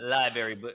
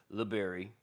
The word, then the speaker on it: library: I get I I get to get away with library versus liberry. Library. Library. Library. It's not a berry.